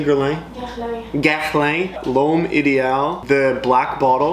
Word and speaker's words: Guerlain: Guerlain.